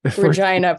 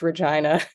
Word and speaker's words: Regina: a little bit studying Regina pronounce it as it need need be pronounced it's Regina Regina yeah Regina lean right into the most embarrassing way you could pronounce that word okay University of Regina